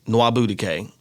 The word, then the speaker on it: Nwabudike: Nwabudike. That's how it's said, folks.